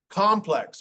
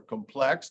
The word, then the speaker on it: complex: Box, complex or complex, depending on if it's a noun or an adjective.